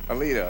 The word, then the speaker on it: Alito: Aleldo? Alito? Alito, yeah.